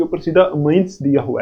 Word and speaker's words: amines: देखो अमाइंस, देखो इसको कुछ कुछ लोग अमाइंस बोलते हैं और कुछ कुछ अमीन्स बोलते हैं, लेकिन एक्चुअल प्रोनाउंसिएशन इसकी अमीन्स ही है।